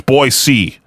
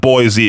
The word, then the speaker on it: Boise: The biggest one is that it's Boise, not Boise, because then you get hit with that dumb thing of, you're not from around here, are you?